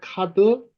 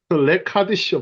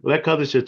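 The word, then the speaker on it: לְקַדְּשׁוֹ: 네, 코르는 그 다음에 자코르 엣 욤 하샤밧 르 카도시 예, 카도쇼 카도쇼. 카드쇼. 레카드쇼 발음이. 레카드쇼.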